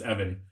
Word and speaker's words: Eimhin: I wish, you know, what I should have done is Evan, who is their in-house Irish specialist, spelled Eimhin. Not I didn't know how to say it. I was like, oh, it's just Evan.